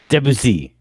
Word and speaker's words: Debussy: I mean, I hate to give it away here, but it's clearly Achille Claude Debussy, the French composer. Debussy.